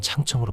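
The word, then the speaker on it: 长城: 5시간이 넘게 걸리는 길이다 한국어로는 장성이라 발음되며 중국어로는 창청으로 발음된다 전국시대의 국경으로 삼을 만한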